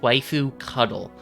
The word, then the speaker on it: waifud: log message oh yes it is intentionally supposed to be pronounced waifu cuddle that is the official pronunciation of the term um javascript refresh page